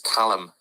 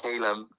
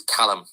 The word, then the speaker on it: Callum: And my right pronunciation is Callum. Not Calum, it's Callum.